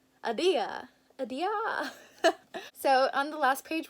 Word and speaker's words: Ahdieh: The A in apple plus Ahdieh. Ahdieh? All with a little bit of Persian oomph behind it. Ahdieh.